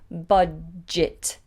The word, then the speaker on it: budget: well has a generous budget budget and notice here this sounds more like an eye than an e budget budget budget budget